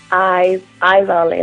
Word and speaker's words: Ayzali: I think it was Ayzali. Am I saying it right? Ayzali, like an eye.